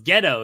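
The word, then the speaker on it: Gedo: Bobby Heenan is like so how do you pronounce his name and T's like oh it's ghetto he's like so ghetto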